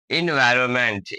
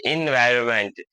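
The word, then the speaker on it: environment: इसमें ये एन है ना, एन साइलेंट रह जाएगा। इसको पढ़ेंगे इन्वायरमेंट, इन्वायरमेंट, ENVIRON, इन्वायरो, इसमें एन साइलेंट हो जाएगा।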